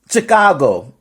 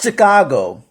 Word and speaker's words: Chicago: You know, like you know when somebody is from out of town, when they say Chicago, it's not Chicago.